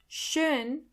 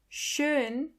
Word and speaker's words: schön: Schön. Schön means beautiful. Do you hear the O umlaut in the middle?